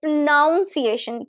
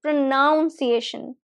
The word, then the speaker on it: pronunciation: So this one see what we do is uh I've heard a lot of people say pronunciation pronunciation there is no O after N.